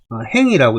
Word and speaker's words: 行: 요거는 행이라고 읽고 요거는 안항이라고 읽죠. 항. 그래서 요 갈행자도 실제 여러 가지로 읽죠.